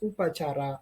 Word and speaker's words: oepacara: As you can see, there are some I can say old Indonesian word that written such as pencuri, suara, jang, oepacara that pronounced as upacara, and many other Indonesian old word or old language.